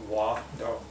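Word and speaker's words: ᏩᏙ: It's very simple. Just have two syllables. You got wa, do, wado, Wado, wado.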